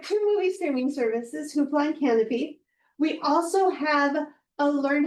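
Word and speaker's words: Kanopy: Canopy spelled with a K. Canopy is for the independent films, the classic films, the documentaries.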